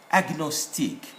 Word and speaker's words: agnostic: are there on G, most GN are nye in sound, but these are exceptional cases where they will be pronounced as diagnostic, not diagnostic, diagnostic, gnome, and then agnostic, and then gnu. So these must be pronounced.